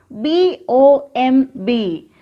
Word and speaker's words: bomb: See this? B-O-M-B. We have already learned this. Bomb. B-O-M-B. Bomb. Here, letter B is silent.